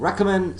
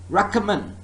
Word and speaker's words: recommend: first syllable is stress what about in committee and recommend second syllable is stressed committee committee recommend Rackham it's not row